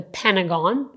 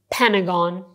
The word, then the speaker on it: Pentagon: "Pentagon" In America there's this building that is called "Pentagon" I mean, Americans pronounce it the "Pentagon" You somehow omit the "T" "Pentagon" So the government building